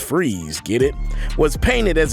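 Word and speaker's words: Fries: Now, Victor Freeze, pronounced Freeze, get it, was painted as a sympathetic character who was only trying to save the life of his beloved wife, Nora.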